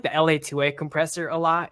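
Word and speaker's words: LA-2A: Is it L2A2? Is how you say it? LA2A, yeah. I LA2A.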